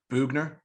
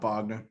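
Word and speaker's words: Boughner: it i always forget buchner boogner not bogner okay boogner going into his third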